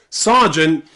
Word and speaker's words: sergeant: This is the only time I know in English where the letter E is pronounced ah. Ah. Sergeant. Okay? So just remember that one word. Sergeant is somebody in the army.